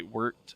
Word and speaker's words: wort: I know it reads wort, but it's actually wort. It's pronounced wort, people.